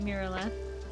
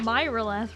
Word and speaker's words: Mirth: Mirth, it's not Myth, right?